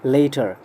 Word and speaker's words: later: ध्यान रहे इसका प्रोनाउंसिएशन है सिंगल टी वाले का later, later, और सेकंड वाले का प्रोनाउंसिएशन है टी वाले का latter, latter, later, latter, ले ला।